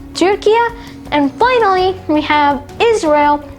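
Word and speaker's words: Türkiye: Next, you have Turkey, which is pronounced as Turkia.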